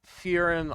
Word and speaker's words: Ferrum: It is Furum Iron, which is go ahead and roll a history check. How do you spell Ferrum Iron?